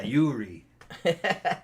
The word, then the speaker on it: Uri: And to an American, we're that would just be gonna Uri, call you Uri. Jim. Started How about with the that? U, yeah, Uri. Uri, yeah, sounds better. Uri, that sounds like something.